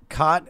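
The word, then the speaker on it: Cait: Cot.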